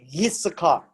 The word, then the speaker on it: Issachar: And then you find the sons of Issachar. It's not I, it is actually a Y. It's pronounced as Y. It's Yissachar.